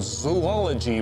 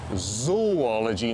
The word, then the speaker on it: zoology: got a degree in Zoology by the way and you always pronounce it zoology not zoology because it's not really the study of zoos it's the study of animals is a word that